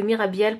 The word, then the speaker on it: Mirabiel: Ce n'est pas un hasard si le nom de Mirabiel prononcé fait penser à Mirror Ball en anglais, signifiant boule à facettes.